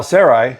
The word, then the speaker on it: Sarai: minute I promise now Sarai and I had to check the pronunciation s a r a i and that's how they were saying it on YouTube so that's what we're going with now Sarai Abram's wife